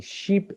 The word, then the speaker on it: sheep: column explains the length the longitude of the vowel sound same happens with this one which is very popular okay is the difference between sheep and the difference between ship sheep ship that's why pronunciation is so important because if you mispronounce if you mispronounce a word it can mean something totally different there's a huge difference